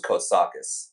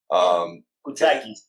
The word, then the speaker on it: Koutsakis: other interviews because so I had a teacher in middle school who had the exact same name, but it's pronounced very differently. Okay. Hers was Koutsakis, and I know that's not how you say yours. Koutsakis. Yeah, yeah. So it was a little different.